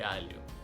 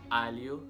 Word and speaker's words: alho: Alho is garlic, and the LH is pronounced as lia. So it's alho, it's not alho.